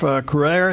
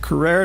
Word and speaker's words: Crouere: All right, welcome back, and a delight to have back with us today Carrere.